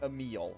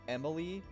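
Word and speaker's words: Emille: Also, I am correctly assuming her name is pronounced Emil, right? It's not like Emily, with just a weird spelling. I'm pretty sure that'd be like a French pronunciation.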